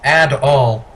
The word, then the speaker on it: Adol: the name's grief hello my name is Adel it pronounced ad all oh by the way